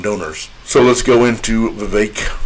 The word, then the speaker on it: Vivek: so let's go into Vivek rhymes with cake Rama Swami who the